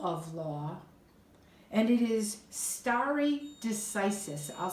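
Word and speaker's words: stare decisis: it is rule of law and it is starry decisis I'll spell that for you that's a Latin term two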